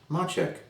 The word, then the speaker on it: Macek: is machek pronounced machek a nice Bohemian name I pinned the novel